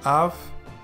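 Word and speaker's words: אב: Next up, aleph, kametz, bet. You pronounce it as av, and it means father.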